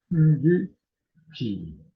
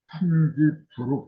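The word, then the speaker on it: 천지비: 천지 비. 이걸 안일 부자로 읽는 사람들이 있는데 낚일 비자예요. 이게 비하고 부하고 발음이 두 가지로 나온다는 것도 알아야 되거든요. 근데 이제 인터넷상에 들어가면은 천지 부로 풀이한 사람들이 많아요.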